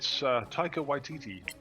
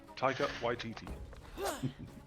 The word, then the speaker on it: Taika Waititi: If anyone wants to understand the pronunciation, it's Taika Waititi. Taika Waititi.